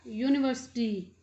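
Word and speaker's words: university: इसी प्रकार यूनिवर्सिटी, ए यूनिवर्सिटी teacher, यूनिवर्सिटी teacher, य की साउंड है, तो तो अब जो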